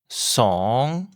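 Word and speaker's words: สอง: Le 2, song. La voyelle est un O ouvert comme dans son, mais long et qui finit encore par le son ng. C'est encore un ton montant comme une question. Song.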